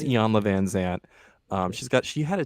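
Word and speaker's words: Iyanla Vanzant: self-help books so um Ian lavanant is that that's how you say it right Yan I believe it's Yan VanZant um got she had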